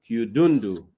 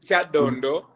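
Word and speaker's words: Kyadondo: That No, the name is Chadondo, but you yeah, pronounce it in a very interesting way.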